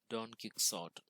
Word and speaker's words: Don Quixote: In English, it seems like Quixote, Don Quixote. It is pronounced as Don Quixote.